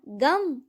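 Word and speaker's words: गं: गण के प्रथम शब्दांश ग का उच्चारण करने के बाद वर्णों के आदि अर्थात अ उच्चारण करें। उसके बाद अनुस्वार अर्थात म का उच्चारण करें। इसके बाद इसे अर्ध चंद्र से सुशोभित करें। इस प्रकार गम ओमकार से अवरुद्ध होने पर भी तुम्हारे बीज मंत्र का स्वरूप ओम गण बनता है।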